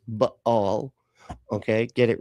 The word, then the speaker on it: Baal: First of all, the correct pronunciation is Baal.